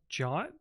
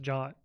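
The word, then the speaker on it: JWT: know what that is did you know that JT is supposed to pronounce jot no that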